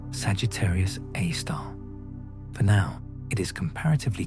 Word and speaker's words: Sagittarius A*: Our own Milky Way hosts its local example, Sagittarius A, pronounced Sagittarius A star.